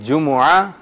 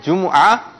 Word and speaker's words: جمعہ: جمعہ، دیکھیں ایک ہے جمعہ، ٹھیک ہے، جمعہ، اور ایک ہے جمعہ، یعنی جیم پر بھی پیش ہے، میم پر بھی پیش ہے، عین پر زبر ہے۔ آپ آئیے، اور جب